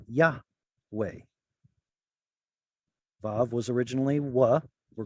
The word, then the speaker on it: Yahweh: That's a possible explanation about where we get this scholastic consensus that it was Yahweh.